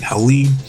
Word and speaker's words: Helene: were affected by Hurricane Helene. That's how you say it, because both of them are from North Carolina, so I'm sure they know people that might have been affected personally by the hurricane.